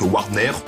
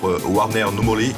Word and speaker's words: Wardner no Mori: Alors bon, on va le prononcer à la française au début, donc Warner. Et le titre original, Warner No Mori. Donc je m'excuse, mon accent japonais pas terrible.